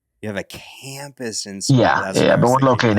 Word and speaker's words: Smyrna: but still, I want to know if I'm saying it right. Smyrna. Yeah, Smyrna. Yes, sir.